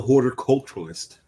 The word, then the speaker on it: horticulturalist: Yes, she was the horticulturalist. Horticulturalist. The T is very important there.